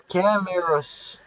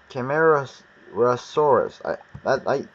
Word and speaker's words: Camarasaurus: And here's the Camarasaurus, or Camaros, Camar, Camarasaurus. I pronounced it right.